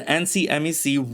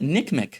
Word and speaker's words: NCMEC: first correction is that I've been pronouncing the acronym for the ncmec wrong the person who gave me the info told me they don't call it the ncmec in their business they just call it nickm the other correction I